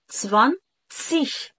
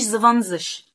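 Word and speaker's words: zwanzig: س، في ت س في الاول كنطق. ما تكتبش الكلام ده بالعربي بالحروف العربي، ولكن افهمه. فبنقول سفان، سفان، سفان، سيش، سفان، سي.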